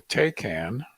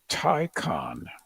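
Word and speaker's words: Taycan: event this Wednesday and I learned how to pronounce the Porsche model name that he Compares it to which we've always called the takan mhm it's actually called the tyon tyon like tiger like taond deroga oh taond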